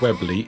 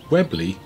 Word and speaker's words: Weobley: doomsday book and is still pronounced the same as it was written then with the silent o if anyone's lost a